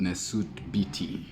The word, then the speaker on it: nswt bjt: This painting is called Nesuit bity, which is spelled N-S-W-T-B-J-T.